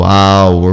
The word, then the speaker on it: hour: O H, ele pode ser mudo em poucas palavras. São 5 palavras na língua inglesa. Isso depois eu dou para vocês, como o hour, o honor, o honest, o air e o heiress.